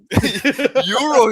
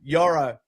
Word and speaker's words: Yoro: Euro, he said. Every time you say Euro. I got corrected by Elliot and Yanni, so I'm Yoro.